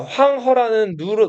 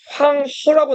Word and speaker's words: 황허: 근데 지금 여기서는 황허라고 나와 있죠. 허는 우리말로 하라고 발음되는 이 한자를 중국어로 허라고 발음하거든요.